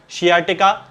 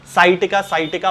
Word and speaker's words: शियाटिका: है, तब उसके कारण शियाटिका नाम की एक बीमारी हो जाती है, जिसे कि साइटिका बहुत सारे लोग कहते हैं। हालांकि इसका सही प्रोनाउंसिएशन जो है वो शियाटिका होता है।